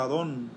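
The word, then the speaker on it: Adon: qué significa señor hermanos del hebreo significa se pronuncia a don que significa ambos él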